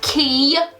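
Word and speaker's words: Quay: One pair of those key shades, Q-U-A-Y, if you didn't know how to pronounce that, that's how you say it, costs more than this box costs.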